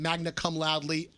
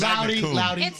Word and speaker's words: magna cum laude: roll every year, graduated magna cum laude, all of it. What? And I got I don't think that's how it's pronounced. Loudy. Magna cum. Magna cum laude.